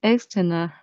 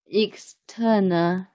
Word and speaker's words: external: a bit difficult because I always pronounce like external. Actually, it's external. The stress is in the second syllable. External. So we need to pay attention to it carefully. And the first letter, E. Yeah, not pronounced like A. Pronounced like E.